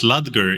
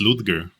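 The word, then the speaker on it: Ludger: bothers me just like you guys pronounced lger even though it's ludgar oh is it ludgar oh okay I should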